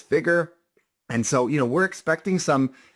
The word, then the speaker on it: FIGR: FIGR, phonetically sounding as Figure.